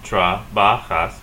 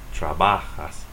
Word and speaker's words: trabajas: In terms of pronunciation and stress, you're going to have 3 syllables. Trabajas. It ends with a S, and the rule says if it ends with a vowel, N or S, stress the next to the last syllable. So stress it here. Trabajas. Trabajas.